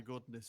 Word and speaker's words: goodness: he pronounces it like Gudniz. Goodness. Yeah. Yeah, same as business.